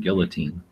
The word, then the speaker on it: guillotine: Midnight is saying he says guillotine instead of guillotine. Guillotine. How do you say it? Guillotine is actually the correct pronunciation.